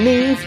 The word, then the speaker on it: Neve: Along with Neve, that rhymes with Steve.